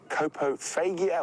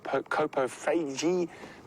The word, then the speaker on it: coprophagia: Coprophagia or coprophagy or coprophagy, depending on your pronunciation, is the correct term for an animal that eats feces.